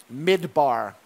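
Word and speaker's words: מדבר: The word desert in Aramaic sounds like this. Midbar.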